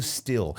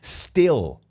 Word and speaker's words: still: com que eu pronuncio still still o i várias vezes em inglês eu não cano de falar isso aqui ele tem o som de e still still várias vezes